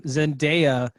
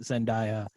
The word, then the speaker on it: Zendaya: pronounce her name because everyone pronounces it wrong and it's not zendaya she's like it's zen day uh that's it that's